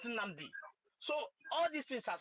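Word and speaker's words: Nnamdi: of Igbo pronounce Mazin Namdi Kanu. Namdi. They will tell our children his name is Namundi, not Namdi.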